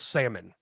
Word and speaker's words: salmon: hear it John John because you're about to add that silent L aren't you yeah get that salmon